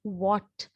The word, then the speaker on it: what: So when we read something with W, our mouth should be round, what, right?